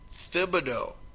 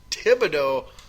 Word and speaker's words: Thibodeau: almost exclusively as Tom Thibodeau apparently now the H is no longer silent this is here in Minnesota so I don't know it depends on he asked to me still Tom Thibodeau like if that's what